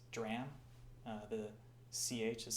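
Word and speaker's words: drachm: silver uh dram I recently learned that the pronunciation is not dracum as I thought or Tetra durakum it's dram uh the CH is silent the auger side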